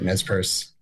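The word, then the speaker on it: Nez Perce: And then there's a u Nespier. Is that how you pronounce it? Yeah, that's right. Nespur.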